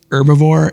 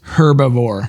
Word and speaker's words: herbivore: I think you mispronounce herbivore it looks like it's herbivore oh you pro thank you yes the H is not silent Cool Whip Cool Whip